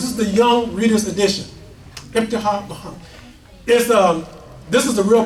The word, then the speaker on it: Ibtihaj: Imam Jane, tell me how to pronounce her first name again. Ibtihaj Mohammed. Ibtihaj Mohammed.